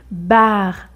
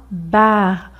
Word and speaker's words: bar: Alors que dans ce mot ici, bar, un bar, on le prononce mais très légèrement, un bar.